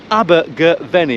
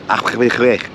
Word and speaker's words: Abergavenny: And today I am in the beautiful Welsh town of Abergavenny. Am I pronouncing that correctly, Mr. Sampson? No, it's Abergavenny.